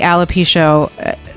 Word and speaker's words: alopecia: How old were you when the alopecia? Yeah, I'm going to say it wrong. Alopecia. You're saying it right.